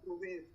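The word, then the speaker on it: עובד: un personaje bíblico Joel Esta no es una y Recuerden que esta es muda entonces le damos sonido Obed con la vocal en este caso Esta es la vocal entonces decimos Obed Obed es un nombre bíblico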